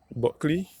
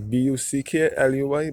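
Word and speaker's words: Bulkeley: clearly spell b-u-l k-e-l-e-way buckley many people is referred to as buck here luy but it is spelled b-u-l-k-e-l-e-y as you're my grandmother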